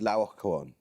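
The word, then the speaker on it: Laocoön: Laocoon. Laocoon. Yes, usually pronounced "Lao-oh-coh-on".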